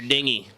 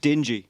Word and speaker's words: dinghy: on your dinghy. All right, so come back tomorrow for that. I believe it's pronounced dingy.